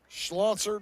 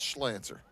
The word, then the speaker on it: Schlanser: Schlanser, not Slanser.